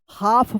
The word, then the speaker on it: half: HALF, क्या पढ़ेंगे इसको, हाफ पढ़ेंगे, हाफ। क्या पढ़ेंगे, हाफ। यहाँ पे भी क्या है, एल साइलेंट है, हाफ।